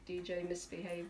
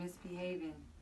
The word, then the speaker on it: DJ Misbehavior: It's DJ Misbehavior. Yeah. I was saying misbehaving.